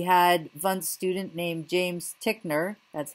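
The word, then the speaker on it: Titchener: the U.S we had one student named James tickner that's how you pronounce his name who became one of the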